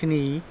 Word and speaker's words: knee: skip over it but the knee has a silent k but then we end up saying knee and um i say